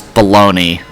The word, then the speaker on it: bologna: for the non-english speakers you pronounce baloney uh b-a-l-o-n-g-n-a as baloney because that's a word that we co-opted into english going over a bit